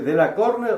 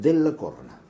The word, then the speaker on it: Della Corna: ¿Cómo se dice? ¿De la Corne o de la Corna? Es de la Corna.